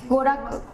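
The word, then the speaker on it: 娯楽: Goraku. Hả? Goraku.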